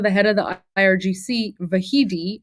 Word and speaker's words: Vahidi: So remember, they just talked about the head of the IRGC, Vahidi. It's, you know, it's it's pronounced Vahidi, but remember this is Vahidi, right?